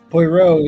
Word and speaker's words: Poirot: But All right, so now that I actually know how to pronounce it, Poirot is Christie's most famous and longest-running character appearing in 33 novels starting with The Mysterious Affair at Styles.